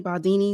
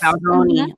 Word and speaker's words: Baldoni: um deposition, this this case with Justin Baldani, Baldini, is how you say his name. Um Justin Baldoni. Yes, Baldoni.